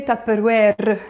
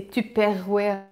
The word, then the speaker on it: Tupperware: You can also say تابروير. That's how we pronounce it in the Lebanese way. Although it's a brand, I think in the Frenchy way they say تابروير. Some of my Frenchy Lebanese might say that, but I just say تابروير the Lebanese way.